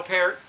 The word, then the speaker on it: Peart: was it c neil peart and yes that's how you pronounce his name according neil like the fruit he'll pair he he